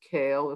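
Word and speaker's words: קל: So God world, Kael Olam, this unique phrase meaning God world, the name Aleph Lamed, which we pronounce Kael if we're not davening, Olam.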